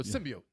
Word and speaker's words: symbiote: they said it wrong symbiote sybi symbiot oh symbiote yes that's what that's how that's how you're supposed to pronounce it really that's when you know the